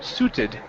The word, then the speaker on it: suited: suited right here okay this word is suited with an ed ending suited sued okay let's try that again so the I the I will not make a sound instead of su it's Su suited suited okay all right that's